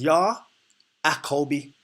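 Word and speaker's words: יעקב: And how you pronounce it is Yah-Akobi. Yah-Akobi. That's how you say his name.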